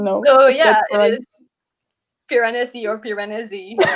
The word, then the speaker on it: Piranesi: i don't know yeah i say piranesi because it sounds italian to me so like piranesi but like yeah you